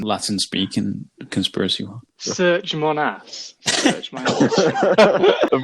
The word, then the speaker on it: Serge Monast: Serge Monast. Rather unfortunate we say it like that, but it's Serge, S-E-R-G-E, Monast.